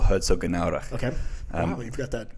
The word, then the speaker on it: Herzogenaurach: Officially in a small town called Herzogenaurach. Okay. Wow, you've got that pronunciation down.